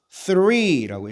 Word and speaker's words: three: three라고 읽어야 되죠.